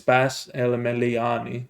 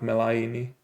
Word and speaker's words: El Meliani: So it's Bas El Meliani, not Melaini, but then sure, Meliani.